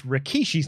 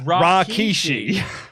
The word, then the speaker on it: Rikishi: Can you explain why JR would pronounce Rikishi's name as Rakishi?